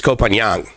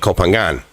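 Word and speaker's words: Koh Phangan: i keep hearing um probably the most incorrectly and i'm very guilty of this roger this kopanyang because there's a g in the phonetical spelling of it right so at first i thought it was i'm going to kopangan but then i guess it's kopanyan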